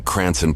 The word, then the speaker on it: Cranston: department in Rhode Island they meant to type Cranston but Florida officials may have misunderstood a road Islander pronouncing cranon Paulie's Department in their famed accent the report details that